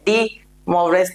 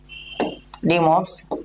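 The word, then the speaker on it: de Moivre: कोई कोई इसे डी मोवरेज थ्योरम भी बोलते हैं, ठीक है, या कोई डी मोवरेज थ्योरम भी बोलते, तो वो आपकी इच्छा है, आपको किस तरीके से वो प्रोनाउंस करना है, ठीक है।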